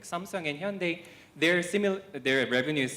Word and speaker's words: Hyundai: now like samsung and hyundai which is pronounced like sunday and the lg or